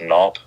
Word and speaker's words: Knaupe: it all right so my last name is pronounced nop it's like kieran knop and it's a shortened